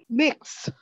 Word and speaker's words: Mx: one that's like mx is that miz how do you pronounce that if you know mix thanks i have five friends